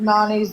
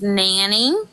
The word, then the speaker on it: Nani: Bae, it's Nanny. Nanny. I didn't. Well, Nanny's not spelled like that, so I said Nani. It's okay. It's Nanny, Sorry. like Nanny 911.